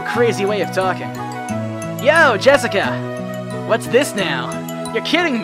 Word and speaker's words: Jessica: the same kind of weird name you see that is pronounced jessica she's dad's oldest brother's